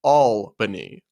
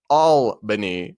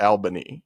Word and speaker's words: Albany: Just want to let you know because I've heard you say this once before, but the capital of New York, Albany, is pronounced Albany.